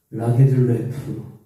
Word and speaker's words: 라게를레프: 여성 최초로 노벨 문학상을 받은 스웨덴의 셀마 라게를레프, 발음이 좀 어려워요.